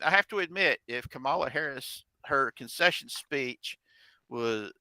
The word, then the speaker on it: Kamala: It's Kamala though, right? It's pronounced like Kama Sutra kind of a deal.